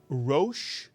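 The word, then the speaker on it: ראש: look at this word how many syllables are in this Hebrew word and the answer yes is one there's only one vowel it's the vowel over the r theum mitsu Yan and if there's only one vowel there's only only one syllable in this word this is a one syllable word can you read this one syllable and if you said Ro you are absolutely correct this word is RO by the way this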